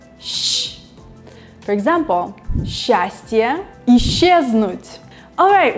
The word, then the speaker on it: с: So it's S or so.